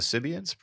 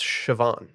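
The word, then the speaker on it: Siobhan: are you talking about the cians it's pronounced sioban and we're talking succession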